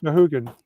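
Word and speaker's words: Sahuagin: You wouldn't believe what Sahugans. Did I say that right? Zahooligans? Yeah. Yeah. That right way to say it? Yeah, Zahooligans.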